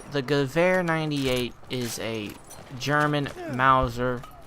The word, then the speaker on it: Gewehr: moment, which is the Gewehr 98, if you want to pronounce it as English, but the original version is Gewehr 98 rifle that's in